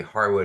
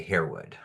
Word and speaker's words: Harewood: Can you tell us Becky why I say Harwood and you say Herwood? Yeah, so um this sort of slight difference in pronunciation um really is is a result of um we sort of rebranded as it were um recently. So historically Herwood has always been known as Harwood or at least the